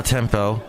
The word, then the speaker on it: tiempo: And we had a nice, quiet evening last evening watching El Ministerio del Tiempo. Not tempo, but tiempo. There we go. I'm saying it right, I think.